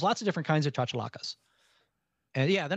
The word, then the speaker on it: chachalaca: the the chocolate how do you say it chachalaca chachalaca yeah charge the locker and that that's that's